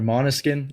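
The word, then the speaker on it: Måneskin: uh what I went to Manis skin recently or monuskin I think is better way pronouncing it have you you guys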